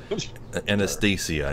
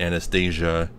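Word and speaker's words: Anastacia: anything it's a Nastasya I think she pronounces it like that I think you're right Nastasya of stores anastasiya not Anastasia Anastasia Anastasia is that it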